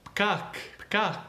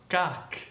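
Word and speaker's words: פקק: But the word is pronounced pakak, or pakakim, pakak. It's not pakak, kak. The P is soft. The K is soft.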